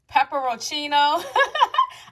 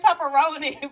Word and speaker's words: pepperoncino: Pepperoncino. I want to say pepperoni, but it's funny how your eyes see things and want to say what is familiar with, seeing and saying.